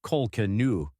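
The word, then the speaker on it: Kolkena: Daniel Broderick, a successful medical malpractice attorney, lies beside his 28-year-old wife, Linda Cochran, pronounced Colcanu.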